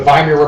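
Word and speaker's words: Weimar: a democracy called The viir Republic the viir Republic I know it's a w but you know W's in German or pronounced as a v it's actually a really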